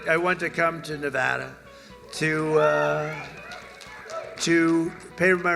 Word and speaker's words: Nevada: heard and don't ever mispronounce the name you're not allowed to do that Jo you pronounce the name you got a problem you ever see somebody when they say it's Nevada NADA no they're they're in